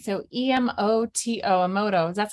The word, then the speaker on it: Emoto: like physical visual is just to look up emoto's work and most people are familiar with him